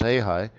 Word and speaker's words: real: the ha high right the Brazilian real pronounced he high is uh is suffering